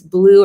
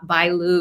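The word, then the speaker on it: Blyew: and i may be butchering the pronunciation but it's like it's blue or bl by lou it's b-l-y-e-w it's that kentucky case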